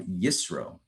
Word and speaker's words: Yisro: Today is February 2nd, 2021, and we are exploring the Torah portion of Yisro, or Yitro, depending on how you want to pronounce it.